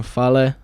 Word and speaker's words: Fale: defeated a new japan pro wrestling star king fale that's how you say it um and the